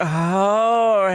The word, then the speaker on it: Jorge: Gotta be like, Jorge. Emphasis on the whore.